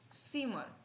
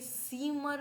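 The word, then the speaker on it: Zimmer: four next है यर सीम सीमर सीमा ठीक है सीमा बोलेंगे सीमर नहीं बोलेंगे सीम ठीक है या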